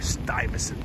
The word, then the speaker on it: Stuyvesant: So we are in Stuyvesant Town right now. We are Stuyvesant Town, Peter Cooper Village.